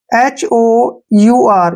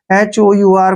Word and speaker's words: hour: ध्यान रखिए, जब किसी वर्ड के शुरू में H आए और H के बाद O आए तो H साइलेंट होता है। जैसे हमारे पास वर्ड है एग्जाम्पल के लिए HOUR, यहाँ पर ध्यान देखिए,